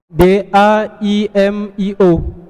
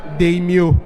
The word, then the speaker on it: daimio: réplique s'il vous plaît d a I m i o daio point 10 points pour FDS la réponse la réponse c'est daimio daimio pas deimio et ça s'écrit avec un a on continue 5e question